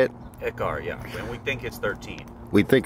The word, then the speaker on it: Ekar: Shifter, we got Ekar? Is that how you say it? Ekar, yeah.